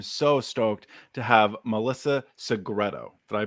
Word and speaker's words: Segreto: Welcome to the Somebody Like You podcast, where I am so stoked to have Melissa Segreto. Did I pronounce that right?